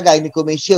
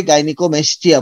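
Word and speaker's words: gynaecomastia: এটাকে আমরা সবাই গাইনিকোমেস্টিয়া বলবো।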